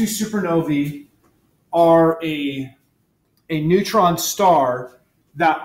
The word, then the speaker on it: supernovae: Okay, so here's some pictures of type 2 supernovae. That AE is pronounced E.